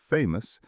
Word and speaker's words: famous: Famous has a schwa in the final syllable. Famous.